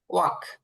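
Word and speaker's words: walk: আর ওই যে আচ্ছা, হাঁটার ইংরেজিটা স্যার, হাঁটা ওয়াক, হাঁটা ওয়াক, এটা ওয়াক বাদ যাবে। হ্যাঁ, এল মানে উচ্চারণে আসবে না। ওয়াক, হাঁটা, ওয়াক।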